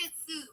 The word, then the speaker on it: Shih Tzu: How you pronounce it? Shih Tzu.